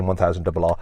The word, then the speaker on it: M1000 RR: It is the M1000 Rr. Okay, so that's how you say it, M1000 Rr.